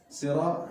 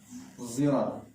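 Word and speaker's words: صراط: Sirat ya, bacanya kalau sirat itu dengan shad yang berismam. Ismam itu adalah campuran shad dengan zai. Zirat. Zirat. Ya, tapi bukan disengaja baca zai, tidak boleh. Masih ada shadnya ya.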